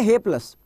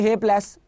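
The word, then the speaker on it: hapless: इसको बोलेंगे हे प्लस, हे प्लस नहीं है, इट इज हैपलस, ठीक है? ये लो आपको इसका प्रोनाउंसिएशन दे रहा हूं, हैपलस, ये हैपलस होता है ये, ठीक है ना, हैपलस होता है, इसको हैपलस बोलते हैं।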